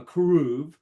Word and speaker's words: keruv: And if you remember, the cherubim, or what you might know as the cherubim, but it's pronounced with a K, a keruv, is a type of angel.